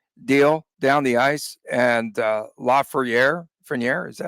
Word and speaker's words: Lafreniere: And Lafreniere, is that how you say his name? Lafreniere.